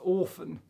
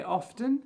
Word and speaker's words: often: I would say often with a T.